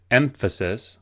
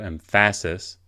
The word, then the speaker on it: emphasis: you emphasize the word so in emphasis we emphasize the first syllable as opposed to emphasis or emphasis the same is true